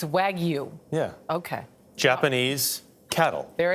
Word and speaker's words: Wagyu: And how do you pronounce it again? Wagyu. It's Wagyu.